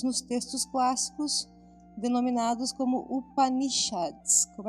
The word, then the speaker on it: Upanishads: E são descritos nos textos clássicos denominados como Upanishads. Como é que é a pronúncia certa?